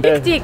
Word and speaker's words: Fick dich: Fick dich.